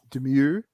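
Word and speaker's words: Domergue: How do you pronounce her last name again? Demure.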